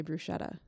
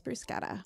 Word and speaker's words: bruschetta: And for me to not have realized that, because I'm one of those boring people who always corrects other people when they say bruschetta. It's bruschetta.